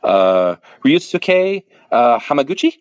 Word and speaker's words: Ryusuke Hamaguchi: name, but I want to make sure I'm pronouncing it correctly because I want to be respectful. Ryusuke Hamaguchi. Yusuke Hamaguchi, his work, I mean, is wonderful.